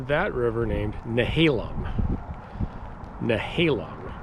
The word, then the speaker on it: Nehalem: Okay, so you pronounce that river named Nehalem. Nehalem, not Nehalem or Nahalium or something like that.